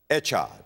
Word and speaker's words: Echad: If you're going to spell it, Echad, E-C-H-A-D, Echad.